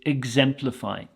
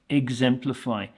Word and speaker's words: exemplify: we have here is exemplify exemplify the sound at the start is more of a IG sound than an ex it's not exemplify it's